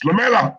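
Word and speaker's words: Lamela: It's Lamella. Say his name properly.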